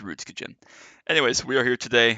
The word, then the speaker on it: Rudskogen: for Global challenge at ruds kajin yes I understand that's probably ruds kogan I've been saying it wrong for the past two years or whatever but I don't care it's ruds kajin anyways we are here